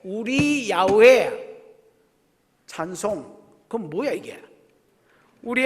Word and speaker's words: 야훼: 여호와는 발음이 여러분 잘못된 거고 야훼, 우리 야훼 찬송.